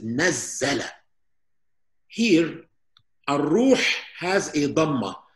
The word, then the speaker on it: نَزَّلَ: You see this shadda, it looks like an inverted comb. This means that this is nazzala.